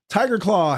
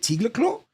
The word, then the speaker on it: Tiger Claw: Hey, Tiger Claw, whose name I was trying to pronounce in a Danish way. I remember that. I was like, is it Tigerclaw? And you're like, no, dude, it's just Tiger Claw.